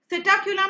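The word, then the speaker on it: Psittacula: सिटाक्यूला में P silent है, ठीक है?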